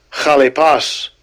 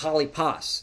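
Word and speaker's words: χαλεπός: Kalipas. Kalipas. Kalipas. That's how he pronounces it. Put the H in.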